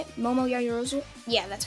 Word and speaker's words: Momo Yaoyorozu: Momo Yaoyorozu?